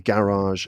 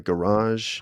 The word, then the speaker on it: garage: We've got like a duvet and a duvet, a garage and a garage, Huh. um, Yes, ma- garage for sure. And mass duvet. massage and massage. Massage in American English, we say massage. So those ones are clearly different.